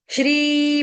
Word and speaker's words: श्री: श्री भगवान वाच श्री जो है यह दीर्घ है। इसको कोई भी श्री नहीं पढ़ेगा। रूपा माता जी कान से सुन लो अच्छे से। श्री जय श्री राम वाला। श्री धीर्घ श्री नहीं पढ़ना।